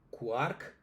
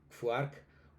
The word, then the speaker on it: Quark: Entonces, dentro del estándar del alemán, eh la Q la Q con la U suena Q, listo. Para ejemplos de quark un. Sin embargo, dependiendo también de nuestro proceso de formación, eh algunos decimos fark un fele es una pequeña variación, pero pues es una marca que podemos tener algunos. Yo eh la utilizo, me siento cómodo con ella, pero pues eh no es el estándar.